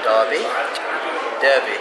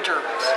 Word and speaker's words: Derby: Yeah, it depends on when you came to this country, whether you're Derby or Derby. Ah, okay, because in the UK it's spelled the same way and it's called Derby, Yeah.